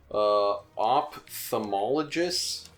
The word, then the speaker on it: ophthalmologist: Ophthalmologist? PH makes the first sound, so this would be ophthalmologist?